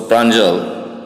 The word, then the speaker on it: Pranjal: The names in Assam and Bengal have or bear the pronunciation O. Like Vijay, it's Bijoy. So Pranjal, it's Pranjal. Pranjal's father is the manager